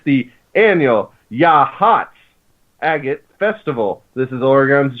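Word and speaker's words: Yachats: It's the annual Yahats Agate Festival. This is Oregon's gemstone, after all. The town of Yahats, pronounced Yahats.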